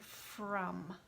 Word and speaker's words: from: That's why this is a tricky word, because the O sounds like what letter? It sounds like the letter U, doesn't it? But really it's an O.